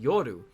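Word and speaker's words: 夜: You eat it at night, but usually it's pronounced yoru.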